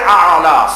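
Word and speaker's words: الأعلى: এখানে আইন দিয়ে আ'লা, সুবহান রাব্বিয়াল আ'লা, ওখানে সুবহান রাব্বিয়াল আযীম রুকুতে।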